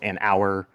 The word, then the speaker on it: hour: Um it's just that the general rule, the general rule was that you use an for an h word if the h is silent. So an hour an honest mistake.